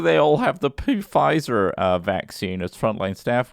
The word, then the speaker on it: Pfizer: up to ninety five did you pronounce the p at the front of five yeah pfizer this guy am i